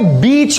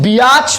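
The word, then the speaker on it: beach: ए आ रहा है, तो यहां पे बीच बोल रहे हैं हम, ई आ रहा है बीच, लेकिन बियाच तो नहीं बोल रहे ना, मतलब ए जो है वो साइलेंट है, यहां पे आई साइलेंट है, ए साइलेंट है, ए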